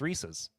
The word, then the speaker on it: Reese's: Thank you for not pronouncing it like some crazy southerner. Reese Reese's. No, it's Reese's.